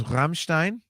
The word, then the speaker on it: Rammstein: One of my top 5 records that year was Rammstein. That's the correct pronunciation, by the way, if you speak German.